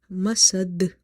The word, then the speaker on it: مسد: Okay, so it will be hablum mim, hablum mim, masad. The dal is silent because we are making it silent. We are doing waqf on this ayah, and dal is from the qalqala letters.